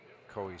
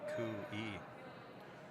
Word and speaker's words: Koe: His last name is pronounced Kui. Kui. You're saying Koi. Well, at times they say Koi, sometimes they say Kui. I actually say it both ways.